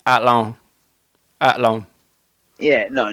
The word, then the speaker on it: Athlone: I was in Athlone. It's Athlone. Athlone. Yeah, no, nobody pronounces the TH.